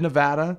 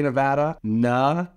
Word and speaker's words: Nevada: to live here and how to say the word Nevada properly it is said Nevada only say Nevada like d-u-h at the end in the pros and